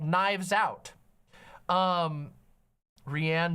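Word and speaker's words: Rian: called Knives Out um rhianne Johnson notes I think it's Ryan I think it's pronounced Ryan uh and Ryan Johnson is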